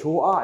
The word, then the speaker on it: 좋아: 히읗은 발음나지 않는단 말이야. 그쵸? 이거 나중에 배웁니다. 그러니까 결국은 히읗은 발음나지 않고, 그죠? 얘도 소리값이 없단 말이야. 그죠? 그러니까 조아 이렇게 되는 거야.